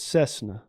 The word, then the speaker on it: Cessna: It's Cessna. Like you could land a 747 Cessna plane on a big old back. Cessna. That's what he thinks it's sima. Some extra syllables in there.